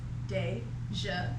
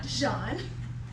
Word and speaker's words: Déjeuner: My name is Déjeuner. Not Dijon. Not Desire. It's literally pronounced the same way it's spelled.